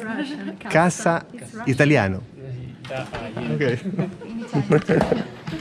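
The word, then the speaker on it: касса: Cassa italiano. Ok. Ma in russo cassa si dice, cioè si scrive cacca, qua si pronuncia cassa.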